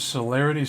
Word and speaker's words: celerity: Does celerity start with like an S?